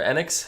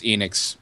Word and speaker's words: Enix: um so we had uh Square Enix or enex how do you pronounce that is it Enix or enex Enix Enix I've heard it both ways long it's Enix longy and that wasn't a a a psych